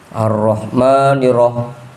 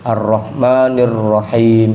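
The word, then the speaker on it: الرحمن الرحيم: Jangan sampai jadi dulil, jangan sampai jadi hi yang ketiga nirah arrahmaniroh. Jadi enggak pakai tasdid harusnya kan ada ada tasdidnya di situ. Arrahmanirrahim itu yang keempat qiau.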